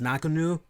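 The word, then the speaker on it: Ngannou: 1 again as Francis I think the last name is pronounced knock anew it was February of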